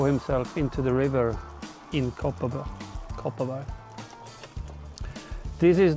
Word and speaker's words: Kopparberg: Locals pronounce it Kopparberg.